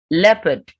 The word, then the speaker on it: leopard: Leopard. That animal is a leopard. EO gives the S sound. And same in jeopardy and jeopardize. So it's not jeopardy or leopard.